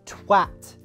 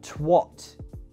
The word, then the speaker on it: twat: Actors, if you're doing a British accent and you have to say this word, it's pronounced twat, not twat.